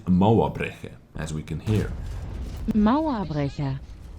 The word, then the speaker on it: Mauerbrecher: At first I thought Mauerbrecher or something like this, but my good old friend Google Translator lady said Mauerbrecher, as we can hear.